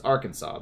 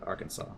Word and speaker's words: Arkansas: it earlier Arkansas it's Arkansas there's no s at the end Arkansas it's spelled Arkansas's it's